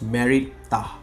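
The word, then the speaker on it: Merit-Ptah: And her name was Mary Tah. I think the P is silent there.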